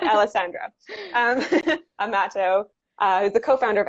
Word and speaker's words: Alessandra: Alessandra, but yes. Alessandra. I've been living in Spain for a couple of years, and so I'm putting a little bit of a twist on that. Alessandra Amato, who's the co-founder of Algi.